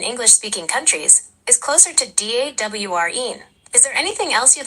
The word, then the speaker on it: Doreen: You're right, it's pronounced more like DAWREEN. The E sound at the end is a bit longer than you might think. Would you like me to say it so you can hear it? Yes, of course. Please. Sure. So it sounds like DAWREEN, with a bit more emphasis on the first syllable.